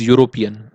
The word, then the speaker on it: European: Okay, but the pronunciation of this particular word is European, so here is a vowel, sorry, consonant.